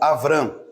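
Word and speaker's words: אברם: eu colocar aqui aqui o Abraão ou Havan ou avrã que é o que era a pronúncia original né é a van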